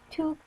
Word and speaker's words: toque: A toque, pronounced toque, is a winter hat.